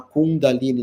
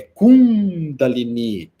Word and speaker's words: kundalini: Chamar kundaline, não é kundalini.